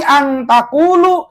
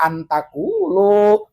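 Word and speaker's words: أَنْ تَقُولُوا: Minar rusuli ang taqulu, jangan dibaca an taqulu.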